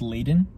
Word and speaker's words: Laden: been like modern lately he's mispronouncing it on purpose to make it fit because that isn't it pronounced laden mm-hmm but he's saying i've been lauded that's